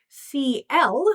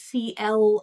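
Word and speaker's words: Ci~L: CL, whose name contains a tilde. It's pronounced CL as I say.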